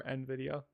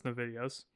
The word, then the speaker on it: NVIDIA: Do you call it NVIDIA or NVIDIA? NVIDIA. NVIDIA. I've heard it's supposed to be pronounced NVIDIA, but I pronounce it NVIDIA because American.